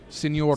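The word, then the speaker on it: señor: Got to roll your Rs. Senor Senor Hulk.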